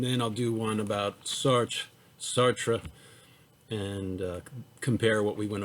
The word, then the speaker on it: Sartre: What are the similarities in the ethical views of Nietzsche and Sartre? Which view is better argued? Why? Explain. So Sartre, S-A-R-T-R-E, Sartre, it's a French word, and I'm not good at pronouncing French words, and we're going to see that.